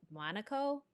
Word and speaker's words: Monaco: And how do you pronounce that? Is it Monaco? Yeah. Editor? Yep. Monaco?